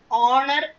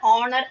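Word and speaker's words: honour: அவர், ஆனர், honest. இதுக்கு என்னன்னா starting வந்து ஹெச், ஆனா இந்த 3 வேர்ட்ஸ்லயுமே ஹெச் வந்து சைலண்ட். அப்ப நம்ம எப்படி இதை ப்ரொனவுன்ஸ் பண்ணணும்னா அவர், ஆனர், ஆனஸ்ட் இப்படி ப்ரொனவுன்ஸ் பண்ணணும்.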